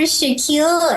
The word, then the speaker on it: Shaquille: no worries I'm Dr Shaquille and yes it's pronounced like Shaquille O'Neal I like to joke